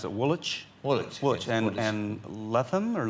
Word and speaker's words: Woolwich: And there was a gentleman by the name of George Osmond who spent a lot of time in, how do you pronounce it, Woolwich? Woolwich.